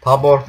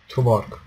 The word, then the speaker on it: Tuborg: Taborg nasıl okunuyor lan o? Tuborg. Çok cool. Ben tu diyorum. Uzatıyorum u'yu.